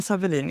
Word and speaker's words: Sawelin: you tell me how how do you pronounce your name in the true Swedish Helena hel Savin is my I pronounce it in Swedish yes we wouldn't have gotten